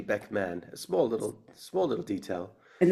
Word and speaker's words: Beckman: a lot of people think it's Beckham, Okay. but it's actually Beckman.